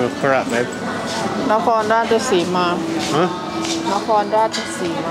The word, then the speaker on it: Nakhon Ratchasima: Nakhon Ratchasima. Huh? Nakhon Ratchasima. Nakhon Ratchasima.